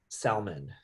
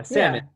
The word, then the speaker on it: salmon: salmon the fish yeah salmon i said salmon because we every every letter makes a sound in in um in tagalog or even spanish right